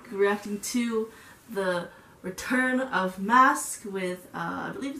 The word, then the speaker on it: MASC: to the return of mask with relieved it's pronounced mask Korea I am super